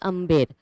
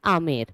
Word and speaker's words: Amer: But Mughals, they could not spell it correctly. So they used to pronounce it incorrectly, and they started saying it Amer. Okay, so instead of Amber, it became Amer.